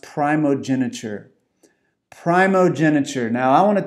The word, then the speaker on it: primogeniture: I was not very familiar with this word, and I believe it's pronounced primogeniture.